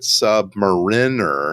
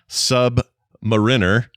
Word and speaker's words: Submariner: It says the word Submariner, as in the Rolex watch or the comic book character, is typically pronounced either Submariner. But that's watch people mostly use that. Or if you're talking the comics, most people, it even says here, most people in the comics say Submariner.